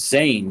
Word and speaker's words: Zayn: should go with his Zayn because that's how they say it in the show and when you translate